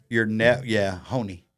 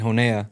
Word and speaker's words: Honea: Honey. I was saying Honea.